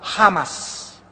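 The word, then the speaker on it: חמס: Damas y caballeros, amados santos de Dios, esta palabra iniquidad, en el hebreo se escribe chamás con CH, chamas, se produce la CH en el hebreo como J, jamás, y significa violento, significa violento.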